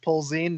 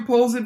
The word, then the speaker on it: Polzin: to point out that my last name pronounced Polzin that poles wait is that right yeah I've been calling you pulls in from 95 percent of people in the world common poles inside I'm not